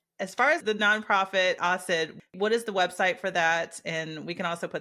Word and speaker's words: AHSID: h AHS D so the ahid but we pronounce it Aid so yes okay perfect well thank you so